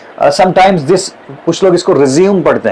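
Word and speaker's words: résumé: Biodata जो होता है उसी को हम अमेरिकन इंग्लिश में रिज्यूमे कहते हैं। एंड अ ब्रिटिश इंग्लिश में हम इसको करिकुलम विटा या सीवी भी कहते हैं। ओके? समटाइ्स दिस कुछ लोग इसको रिज्यूम पढ़ते हैं।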